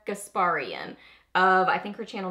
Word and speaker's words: Gasparian: how to say it so I think it's Sonia gasparian I think her channel